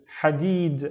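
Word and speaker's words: حديد: The first syllable is ha. So this wave with no dots. Ha, running out of breath. Ha. And then deed. Deed. Hadid.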